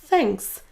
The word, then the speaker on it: thanks: Comment prononcer ce premier son th ? Il va falloir démarrer en plaçant votre langue au niveau de votre dent supérieur et ensuite à partir de là, il va falloir produire le son que je vais vous dire.